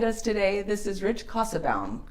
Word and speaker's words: Kassebaum: glad you joined us today this is Rich casabaum oh see there we go again no problem no problem hardly ever gets pronounced correctly so so I am a former